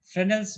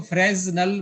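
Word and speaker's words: Fresnel: कुछ लोग इसको फ्रेजनल बोलते हैं, ऐसा ही है। कुछ लोग इसको फ्रेनल बोलते हैं। मैंने दोनों नाम सुने हैं, तो इसलिए मैं बच्चों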